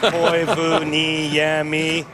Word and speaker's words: Koivuniemi: I like the way his name is spelled on the back of his shirt phonetically with all the dashes in. Mika Koivuniemi. At least we've been pronouncing it correctly all these years.